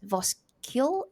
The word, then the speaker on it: Voskuil: our guest speaker, Voskuil. Am I saying that correctly? Voskuil, yeah, it's a typical Dutch pronunciation, the UI.